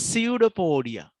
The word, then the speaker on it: pseudopodia: special structure what's that we don't pronounce that p that's pseudopodia pseudo means fake fake